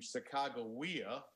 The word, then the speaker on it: Sacagawea: And by the way, the pronunciation Sacagawea is from the late great historian from St.